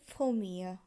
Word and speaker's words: premier: প্রথম উচ্চারণ হবে ফোমিয়া, কিন্তু সেটি পুংলিঙ্গের ক্ষেত্রে।